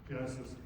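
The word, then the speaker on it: Genasys: The Genesis app, if you haven't seen it, it's spelled a little differently, G-E-N-A-S-Y-S, Genesis. That application, whenever a notification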